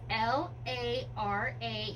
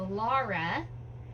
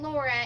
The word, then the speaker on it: Lara: So, her name is L A R A. It is a Lara. And I know it sounds like a Laura, but it is not Laura.